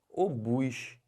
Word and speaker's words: obus: é Nobel aqui ó como é que fala isso aqui o bus não é ovos não é OBS é obus e o que quer